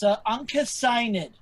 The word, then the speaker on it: Uncas: It's Uncas. Uncas if here. You just call me Unca, actually, for short. But Uncas. It's like Anke with like a little bit of a, I don't know, sighing and nid.